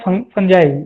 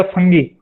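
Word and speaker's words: fungi: बहुत लोग फंगी बोलते हैं, बहुत लोग फंजाई बोलते हैं, कोई दिक्कत नहीं है, प्रोनाउंसिएशन थोड़ा ग्रामेटिकल मिस्टेक है, लेकिन साइंस में अगर आप इसको फंजाई बोलेंगे तो कोई इशू नहीं है, या फंगी बोलेंगे तो कोई इशू नहीं है।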